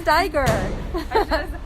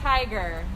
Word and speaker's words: Staiger: I've known you it's Tiger it's like Tiger right okay yeah yeah